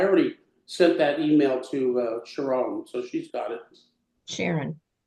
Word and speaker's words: Sharon: It's Cherron, but she says Sharon, yeah.